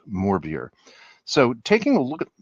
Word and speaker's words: Morbier: Um, I have heard it pronounced by cheesemongers in the San Fran San Francisco Bay area as Morbay.